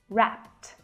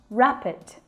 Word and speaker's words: wrapped: verb so we simply add edie but the pronunciation of that ad is more like a teeth sound rapped not rap it that's a completely different word it's an adjective